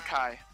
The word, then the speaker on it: ki: If it's CHI, I would say Chi. Kai. It's pronounced Kai.